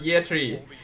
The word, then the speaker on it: Yetri: How do you pronounce the player name? Yetri. It's just pronounced Yetri. It used to be yeah, but now it's just Yetri.